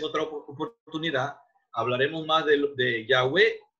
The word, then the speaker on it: Yahweh: y entonces se obtiene el nombre Yahweh, pronunciado Yahvé, o el nombre Jehová.